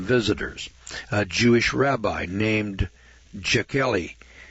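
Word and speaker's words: Jechiel: that shocked unwelcome visitors a jewish rabbi named jakely spelled j e c h i e l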